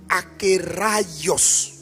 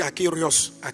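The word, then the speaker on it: ἀκέραιος: C'est a K E accent aigu R A I O S. Donc on prononce akos. Bon souvent moi je m' je me trompe, je dis akéos. Aerios mais c'est pas akéos.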